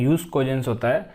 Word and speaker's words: jus cogens: jus cogens jus cogens It is written 'jus cogens' but its pronunciation is 'hues cogens' They are Preemptory norms